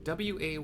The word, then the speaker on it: Wayakkwe: to us by I can never pronounce this, Wayakkwe, the pink-haired, rifle-wielding, awesome gal. I think she's twins. She's one of twins. I don't remember. Wayakkwe. W-A-Y-A-K-K-W-E.